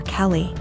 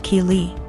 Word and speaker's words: Keeley: more and I realized she was calling my daughter Kelly my daughter's name is Keeley pronounced Keeley so after school was